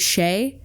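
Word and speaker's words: Skjei: It's pronounced Sheay, but it's spelled S K J E I.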